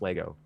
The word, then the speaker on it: Lego: you have john richards it is pronounced lego anyone who says legos is wrong so that i'm just